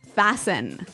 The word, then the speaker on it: fasten: Fascin.